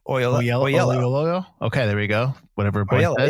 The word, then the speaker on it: Oyelowo: I think it's just Oyelowo. Oyelowo.